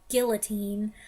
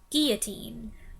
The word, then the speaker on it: guillotine: with me either because while some people say it guillotine i have always pronounced it the french way where the double l becomes a y sound guillotine and this makes sense